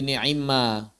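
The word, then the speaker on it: نعما: Kenapa dibacanya jadi ni'imma? Ni'mama kok jadi ni'imma? Nah, gimana ceritanya, Ustaz? Kan ni'mama kok jadi ni'imma? Gimana ceritanya? Ayo, gimana? Ni'mama jadi ni'imma. Gimana ceritanya? Betul dia diidghamkan, tapi kok bisa jadi ni'imma gitu?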